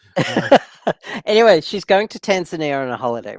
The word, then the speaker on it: Tanzania: Uh, Anyway, she's going to Tanzania on a holiday, right? yeah. But that's how Westerners pronounce the name of the country. How did the locals pronounce it? Tanzania. Tanzania.